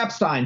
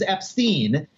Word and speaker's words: Epstein: Epstein, tell me about your band. Like, he's not going to start by saying, well, actually, the correct way to pronounce my name is Ep-steen.